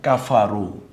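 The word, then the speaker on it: كَفَرُوا: বুঝতে পেরেছেন দ্বিতীয় যেমন কাফারু যদি এটা থেমে যাওয়ার জায়গা হয় তাহলে আমরা বলব কাফার কাফার রুটা পড়ে যাবে এমনকি আমি যদি বলি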